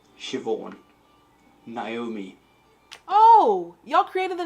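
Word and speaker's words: Siobhán: just okay so this is how you actually pronounce them nev shivon naomi oh y'all created the naomi name what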